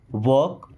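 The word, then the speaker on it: walk: अब देखिए इस वर्ड में एल साइलेंट है। वॉक।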